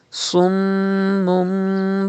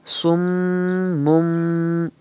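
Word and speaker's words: صُمٌّ: You can see mim mushaddad in the word summum. So you have to do gunna in mim mushaddad. And there is ba after tanween. Iqlab will be done. You have to change tanween into mim and do gunna like this. Summum. Do not say summun, but summum.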